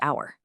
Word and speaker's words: hour: It almost always vanishes in question words, when, why, and in specific time words like honest and hour.